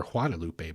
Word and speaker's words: Guadalupe: what is known as the Guadalupe Box or Guadalupe Box, which would be the more proper pronunciation.